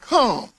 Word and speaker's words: Ham: the sons of ham now we say ham but in the hebrew language is pronounced come somebody said come and